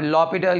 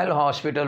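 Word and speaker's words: L'Hôpital: अब लॉपिटल या एल हॉस्पिटल rule भी इसको कहते हैं, लॉपिटल भी लोग प्रोनाउंसिएट इसको करते हैं।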